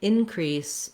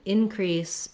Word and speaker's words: increase: as a verb then the in is short and the crease is long increase we need to